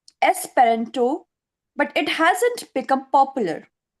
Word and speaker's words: Esperanto: Not a single word you have pronounced incorrectly, dear. And yes, one more. It's Esperanto, my dear. Esperanto.